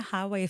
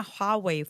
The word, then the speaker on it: Huawei: I want a highway phone. A highway phone? Isn't it highway? Huawei? Yeah. How do you pronounce it? Hua. Oh, I want a Huawei phone.